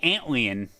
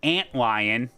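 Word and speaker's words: Antlion: don't have a mixer now I say antan I don't say no no no neemod you you can't tell me how to say it no I have an Anton mod mic I'm not going to say ant lion that sounds so stupid ant lion an Anton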